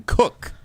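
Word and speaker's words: Koch: Okay, so, I had a friend in college with the last name Cook. That's how he pronounced it.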